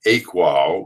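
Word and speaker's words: AQAL: uh can his model a qal which is pronounced a qual which is this whole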